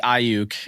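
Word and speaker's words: Aiyuk: uh brandon ayuk ayayuk ayuk what i always pronounce it wrong well it would be ayuk uh so you know they're they're not super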